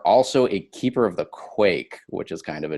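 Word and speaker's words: Quaich: I'm glad you pronounced it properly and didn't say like quiche.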